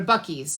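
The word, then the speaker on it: Buc-ee's: into YouTube and put the word b-u-c-c-e-e-s that's the name of it they spell it with two C's and two e's it's this gas station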